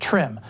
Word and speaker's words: TRMM: mission trmm for short usually pronounced trim a joint venture between